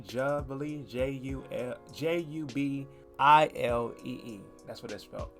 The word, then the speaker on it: Jubilee: or responding also to jubilee i think i pronounced it correctly jubilee j-u-l-j-u-b-i-l-e-e that's what this felt first bit i'm